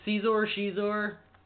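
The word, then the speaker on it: Xizor: And that's Caesar? Shizor, yeah. Caesar. Is it Shizor? It's Shizor.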